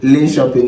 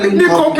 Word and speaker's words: Linköping: If you are in Lane Shop, if you are coming to Lane Shopping, it is not Lane Copy.